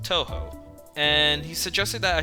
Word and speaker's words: Touhou: We're both fans of a game series called Touhou. Touhou? Stop mispronouncing things, man! We're both fans of a game series called Touhou, and he suggested that I should take some